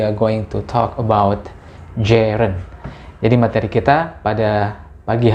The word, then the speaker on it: gerund: Jadi cara membacanya adalah gerund, bukan gerund.